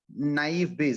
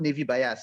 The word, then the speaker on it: naive Bayes: keep telling you guys is called naive bayes not navy bias right yes yeah but